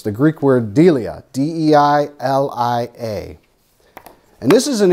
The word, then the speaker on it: deilia: The word fear, I'm sure I'm going to butcher the pronunciation, but it's the Greek word deilia, D-E-I-L-I-A.